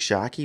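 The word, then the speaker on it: Tscharke: spells his surname is a bit confusing it's pronounced Luke shaky but it's TS c h a r ke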